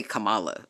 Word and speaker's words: Kamala: Camala like literally and I'm going to say Kamala like I'm not I don't give a what y'all think about pronunciations about none of that